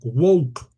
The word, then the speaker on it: woke: suele identificarse como el planteamiento wok que se escribe w u o g e woke del verbo nacer, palabra